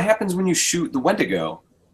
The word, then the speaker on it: Wendigo: Oh, I always say Wendigo, but it's Wendigo.